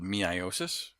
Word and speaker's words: meiosis: here that's how you pronounce then it spelled me I OSIS but it's pronounced meiosis so what meiosis is is it